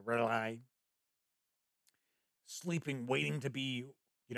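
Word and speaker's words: R'lyeh: So for an example, like Great Cthulhu lies sleeping in the city of Rai, or some people pronounce it different ways. I always say Rai, sleeping, waiting to be, you know, reawakened to rise once again.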